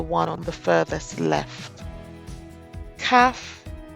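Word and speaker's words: Khaf: on the furthest left CF with spelled k h a f is the 13th letter it is the same as CF without the dees pronounced with a khh as in bar it's similar to the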